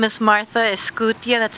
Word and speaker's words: Escutia: My name is Martha Escutia. That's spelled E-S as in Sam, C-U-T as in Tom, I-A.